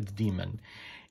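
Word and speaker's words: Deemunn: like d-e-e-m-u-n-n but obviously you pronounce it phonetically a demon and as you can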